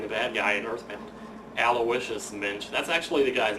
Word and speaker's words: Aloysius: s i u s aloicious is how you say it Le by all accounts that I've looked up that's how it's pronounced so it's going to